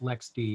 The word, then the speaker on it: LXD: their tool set like they have lxd i think it's pronounced lex d but i i can't make myself say that no it's not lxc